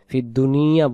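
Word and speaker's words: فِي الدُّنْيَا: ফিদ দুনিয়া যদি বলি তাহলে উচ্চারণ হবে দাল পেশ দু নুন জেন্নি দুনি ইয়া জবর ইয়া, দুনিয়া।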